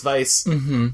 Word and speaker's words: Weisz: I'm terrible pronouncing things I have it in my brain that it's Weiss just because it's a w I know it's Vice heads up apology I